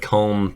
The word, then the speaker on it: comb: really effective anyway we're getting rid of comb because of the silent b at the end it's just worthless like you could have been com so easily there is no other